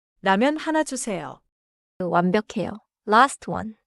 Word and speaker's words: 라면: The first syllable is 라, not English ramen. 라면 하나 주세요.